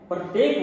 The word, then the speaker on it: प्रातः: उच्चारण है की भांति प्रतीत होता है। जैसे प्रातः, तो कैसा उच्चारण हुआ? है की तरह।